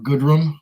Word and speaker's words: Gooderham: For Canadian whiskey, I like Gooderham and Worts, or Goodrum, I guess they pronounce it that way, Goodrum and Worts.